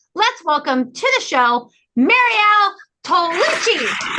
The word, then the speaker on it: Mariel Tollinchi: Let's welcome to the show, Mariel Tollinchi. Mariel Tollinchi. Mariel, is that the pronunciation?